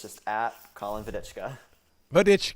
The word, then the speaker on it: Vodicka: it's just at colin vedica but i love the pronunciation i've been saying vodica that's so nice where's that name come from it's a check name a check name nice